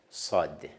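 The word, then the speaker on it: صاد: Sayas sad.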